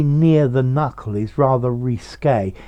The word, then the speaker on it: risqué: our writing notice question does it have an accent on the last e well certainly we pronounce the accent risque so the k at the end is showing the accent and i think you